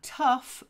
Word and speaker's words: tough: of saying them okay tough is like rough tough rough rough t